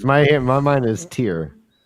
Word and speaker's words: Tear: Is that how they say it, or is it Terror? It's Tyr. If you're from Tyr, you're a Terran, but it said Tyr.